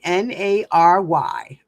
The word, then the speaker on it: nary: Nary. Okay. Let's look it up. Nary. Actually, it's pronounced that way.